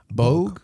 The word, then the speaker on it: Bog: God wait really yeah Bogue like bogey bulk book well that's that's all